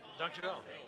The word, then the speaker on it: dankjewel: Dankjewel.